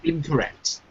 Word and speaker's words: incorrect: hila say it again incorrect incorrect so what do you think which column uh second you're right incorrect incorrect correct so the ACT is a little bit stronger than the other syllables okay Raphael doing L